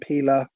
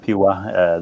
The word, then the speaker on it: Piła: Yeah, they actually pronounce Piła. The L is like pronounced W, so it's Piła.